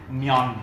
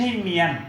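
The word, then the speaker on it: 면: เวลา ออก เสียง เนี่ย มัน เหมือน ควบ กล้ำ ภาษา ไทย มยอน นั่น เอง มยอน เพราะ ฉะนั้น ไม่ ใช่ เมียน แล้ว ก็ ไม่ ใช่ มายอน นะ เมยอน เช่น เดียว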